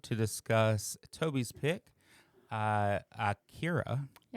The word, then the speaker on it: Akira: Uh so it is technically you can say Akira because that's like the western version, but uh I guess the technical pronunciation is Akira. Akira. Uh yep. Yep. It's like it's an ah at the beginning.